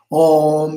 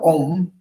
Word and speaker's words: Om: So we start with the Om. Om Bekanze, Bekanze. Om is always in the beginning of the mantra. Om. Om is one syllable with three letters. A-U-Ma. So Om. A-U-Ma. Om.